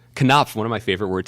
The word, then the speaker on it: Knopf: Knopf. Knopf, one of my favorite words to say out loud. Yes. Joe Hagan, Just welcome. found out I've been mispronouncing that. It's for Knopf, man.